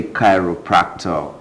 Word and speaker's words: chiropractor: In fact, when I saw the name, first of all, I was calling it Chiropractor. But that's not how it is pronounced. It's called chiropractor.